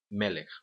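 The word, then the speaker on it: מֶלֶךְ: E tem o seu acento na primeira sílaba.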